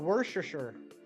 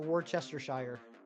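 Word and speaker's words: Worcestershire: call it wor or you call it wor sure wor sure I like to annoy people just by pronouncing it exactly the way it's written out and I just call it War Chester Shire testosterone Tony testosterone Tony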